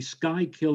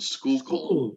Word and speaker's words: Schuylkill: it looks like the sky kill expressway it's not the sky kill expressway it's the schuylkill the school expressway well we have spite